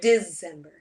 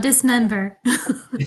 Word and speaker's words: Disember: which has been fun or December emphasis on that first syllable yeah not dismember dismember I know that's been